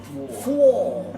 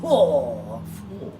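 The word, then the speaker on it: Fohr: Four. F-O-H-R. Four.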